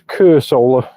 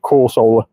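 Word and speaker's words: Cursola: a bu reference there you go so it's Cur solar instead of cor solar that's how you pronounce it but yeah it's the evolution it's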